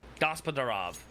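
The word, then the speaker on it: Gospodarov: up of gossaprov and i feel like i'm finally saying his name correct scrive i'm pronouncing the gospel and then da rav i messed it up gospadarov i nailed it amazing amazing indeed see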